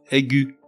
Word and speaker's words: aiguë: À noter que l'on prononce gu, le E restant muet, au contraire des mots